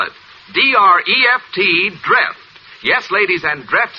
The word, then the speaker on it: Dreft: I'll spell it. D-R-E-F-T, Dreft.